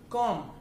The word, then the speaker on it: comb: फॉर example, comb, comb नहीं होता, comb होता है.